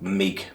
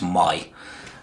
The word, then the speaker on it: Mig: My English people would probably say something like Mig or Meg or whatever, but I believe the right pronunciation is My.